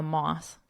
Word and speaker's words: moth: to sleep, maybe a moth. A moth is not a moth in mother, nor both in bother, broth in brother. So again, for pronunciation purposes, but broth, this is the liquid used to form a soup.